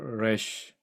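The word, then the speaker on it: רֵישׁ: 물론 래쉬 온라인 현대 히브리에서 래쉬 발음 쉽지 않아요. 혹시 불어 공부하신 분 계신지 모르겠는데 불어의 에하 발음하고 거의 비슷합니다.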